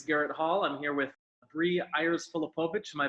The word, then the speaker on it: Ayers-Feltovich: I'm here with Ayers-Feltovich. Am I pronouncing that correctly? Ayers-Feltovich. I pronounced it completely wrong. Ayers-Feltovich.